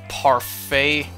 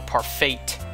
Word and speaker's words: parfait: party forgive universe secretive parfait unless that's literally par fate i think the t is silent um uh oh i